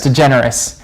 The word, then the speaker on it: DeGeneres: DeGeneres. Yes. I want to make it into 2 words.